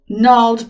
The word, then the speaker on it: gnarled: The harsh, craggy earth of the island is interlaced with twisted vines and gnarled branches. Yes, the G is silent.